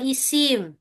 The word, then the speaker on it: ismun: Yang pertama namanya ismun. Bahasa kita Ismun. bacanya isim. Isim atau Isim.